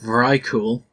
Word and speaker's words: Vrykul: Vyrkul, pronounced Vrykul, are a race of heavily Norse-themed half-giant warriors native to the Howling Fjord located in southeastern Northrend.